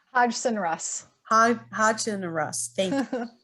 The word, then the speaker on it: Hodgson Russ: sarah miller with us who's an attorney for hux hugson and ross did i pronounce that correct hodgson russ hodgson and russ thank you um and we